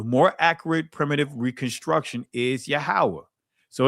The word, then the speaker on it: Yahweh: Then 2, based on the Tetragrammaton, should be reconstructed as Yahweh.